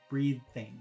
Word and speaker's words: breathing: breathing breathing number one breathing see where my tongue is breathing but when you say